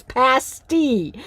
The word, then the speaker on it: pasty: And then and then Tan and Sarah are tire got they're like quit mispronouncing it. It's pasti.